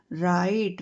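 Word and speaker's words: write: यहां पे डब्ल्यू जो है वो साइलेंट रहेगा। आर आई टी डब्ल्यू आर आई टी ई राइट।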